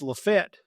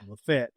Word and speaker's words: LaFayette: Number two, it's Lefett, Georgia. Despite despite the fact that other people pronounce it, despite everywhere else, it's Lafayette.